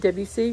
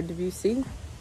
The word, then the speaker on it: Debussy: Then there was another composer named Claude Debussy or Debussy. It's acceptable to pronounce it both ways.